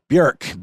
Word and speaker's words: Björk: There's the umlaut over the O, which makes it a Björk. It really is spelled like the famous Icelandic, so incredible singer, songwriter, artist, producer, Björk. But most people say Björk, so I believe it would be Björkegren.